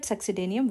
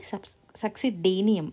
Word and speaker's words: succedaneum: So this D and A succedaneum, you are pronouncing it as day, right?